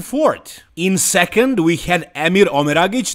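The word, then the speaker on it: Emir Omeragić: In second, we had Emir Omeragic. That's how you pronounce his name. It's not Emir, Omer Magic, or whatever.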